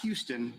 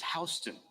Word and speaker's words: Houston: is another fun one it's not Houston in Georgia it's Houston Houston County 196.